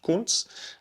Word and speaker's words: Kuntz: Okay, German name, pronounced Kuntz.